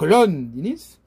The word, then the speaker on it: Londinis: La première syllabe est accentuée, hein, donc Londinis, ce qui veut dire